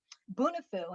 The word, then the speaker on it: Bunifu: populations and so that's when we started uh bunifu and it's pronounced bunifu it's a healey term yeah yes it's a